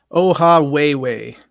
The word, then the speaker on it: Ohawhewhe: But how do you pronounce it? Ohawhewhe.